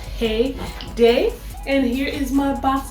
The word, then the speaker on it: Xheyday: there very lightly now their name has an X in front of it says X Heyday but I don't think you pronounced the X I think it's just hey day and I got them